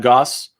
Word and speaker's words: Gosse: sleep thank you again my name is goss rhymes with sass you're in my basement